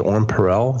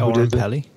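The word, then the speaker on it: Oren Peli: He goes, "Yo, I think his name is Orin Perel. Is that how you say his name? Orin Pelly?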